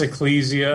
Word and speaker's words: Ecclesia: Evangel Friday November 27th eclesia how we pronounce this do we know oh I think it's Ecclesia okay Ecclesia College I've said it wrong on the radio multiple times they have about 180